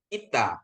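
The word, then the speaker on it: ήτα: Dalam bahasa Indonesia I biasa. I biasa.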